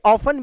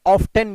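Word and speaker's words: often: लेकिन ऑफन के बारे में मैं एक बात बता दूं, ये ऑफन भी है, ऑफ्टन भी है।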